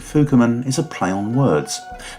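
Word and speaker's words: 福面: The name for masks worn by these miners takes the character fuku, covering, and replaces it with another character with the same pronunciation, fuku, but with the meaning lucky.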